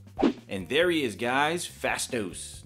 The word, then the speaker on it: Phastos: there he is guys fast dose not face dose i just realized i've been pronouncing it wrong this whole time and